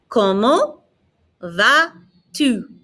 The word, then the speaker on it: Comment vas-tu: Comment vas-tu? Notice I'm not pronouncing the T on the end of comment. I'm not pronouncing the S on the end of va.